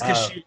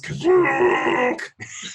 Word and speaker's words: Kashyyyk: of, I think it's, in the special, it's pronounced Kazook. Kazook. Well, I've heard they say two different ways. Someone says Kashyyyk and someone else says Kazook.